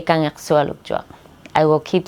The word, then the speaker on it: Kangiqsualujjuaq: But one of the boys said, just say, can you swallow a truck? Like very fast, can you swallow a truck? So it's like Kangiqsualujjuaq. It almost sounds like, can you swallow a truck?